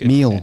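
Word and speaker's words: meel: I might pronounce it wrong, but it's a MEL, I think. Meal.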